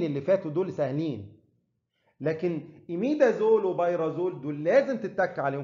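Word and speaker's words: imidazole: وأنا دايماً لما باجي أشرح الحتة دي بحب أهزر مع الطلبة، بقول تقولها إيميدازول مش حميدة زول، إيميدا مش حميدة، خلاص؟ عشان تفتكرها يعني.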